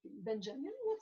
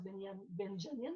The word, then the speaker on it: Benjamin: d'Israël, justement, Benjamin Netanyahou, celui qui est Benjamin, il y en a qui le prononcent Benjamin, mais c'est pas ça.